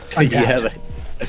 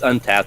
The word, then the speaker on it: Untappd: Untapped.